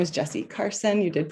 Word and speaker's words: Jesi Carson: as well for being here my name is jessie carson you did pronounce it right i'm participating as lead designer